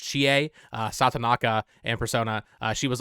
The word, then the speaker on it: Chie: And then similar thing for Erin Fitzgerald, the voice actress for, I think it's pronounced Chie, Satonaka in Persona.